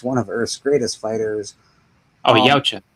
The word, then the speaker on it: Yautja: And in Jordan Morris' story, blah, blah, blah, I don't know how to pronounce that, Warrior stalks one of Earth's greatest fighters. Yautja. Yautja, that's it.